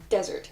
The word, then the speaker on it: desert: If you misspell the word dessert and you forget that S, it becomes desert. Also, very interestingly, there's another way to pronounce the word that's spelled D-E-S-E-R-T.